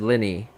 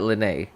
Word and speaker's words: Lyney: show okay so Liz apparently it's pronounced Lenny not lynnae Lenny so Lenny definitely sounds